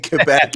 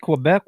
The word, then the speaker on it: Quebec: know if we take Quebec will be bilingual well you're going to have to say it correctly first it's not Quebec it's Quebec quec yeah I know but